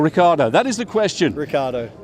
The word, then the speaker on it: Ricciardo: Ricciardo. It's Ricciardo. Second eye is silent. Silent, is it? Yeah.